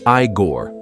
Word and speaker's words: Igor: It's pronounced Igor. Arg.